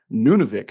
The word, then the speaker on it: Nunavik: Corp has several projects on a site called Nunavik am I pr pronouncing that correctly you are yep so Nunavik uh is in Far Northern Quebec I'll go